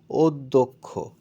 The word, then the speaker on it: অধ্যক্ষ: আমরা দেখতে চাই যাই উচ্চারণটা হচ্ছে অধ্যক্ষ এখানে অ এর উচ্চারণ ও এর মত হয়েছে এখন অ এর উচ্চারণ কিভাবে